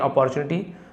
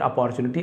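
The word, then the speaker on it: opportunity: ऐसे बोलने से स्टार्टिंग जब लगे तो अपॉर्चुनिटी तो ओ मत देखिए। अपॉर्चुनिटी तो ऐसे है ना अपॉर्चुनिटी ऐसे बोलते हैं या फिर अपॉर्चुनिटी अ बोलेंगे तो भी चलेगा।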